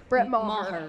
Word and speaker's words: Brett Maher: Yes, pronunciation, Brett Maher.